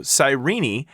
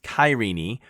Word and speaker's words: Cyrene: So, Sirenei, also pronounced Kyeni, or if you lived in the time of Aeritoines, you may have actually pronounced it Kuren, um, is actually modern-day Libya.